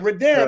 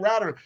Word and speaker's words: Darren: That's how you say it. Darren. Okay, I was saying Router.